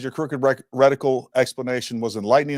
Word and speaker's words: reticle: It's so silly, but they say reticle. They spell it REC, like TIL or something weird, or radical, RADICAL. It's reticle, RETICILE, or LE. So, anyways, it's reticle, not rectical.